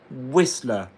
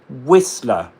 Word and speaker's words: Whistler: Whistler. So it's pronounced with a schwa. The second syllable. Whistler.